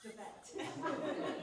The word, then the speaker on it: Devette: My name is Devette, and if you can't remember how to pronounce it, please call me Dee, because it's not David or David, it's Devette.